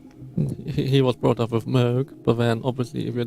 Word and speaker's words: Moog: very open of like uh most people will pronounce it Moog uh but he was brought up with MOG but then obviously if you're dark more more